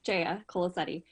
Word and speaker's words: Jaya Colasetti: i mispronounced your name pretty close it's jaya colasetti um good evening thank